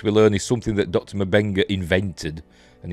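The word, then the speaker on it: M'Benga: have reminded that uh mabenga not embenga although everybody everybody pronounced the M Banker but I'm still going with merbing uh you know fight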